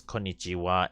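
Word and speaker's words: こんにちは: I would just say that ha and wa. It's just that it's just old Japanese way of pronouncing it for the ha, and it's written as wa. So basically, it's very simple. Is that in this case we always use konnichiwa and konbanwa.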